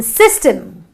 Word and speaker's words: system: And you have the system, which is another short I sound produced by the Y, which comes between both the S's, which are again two consonants.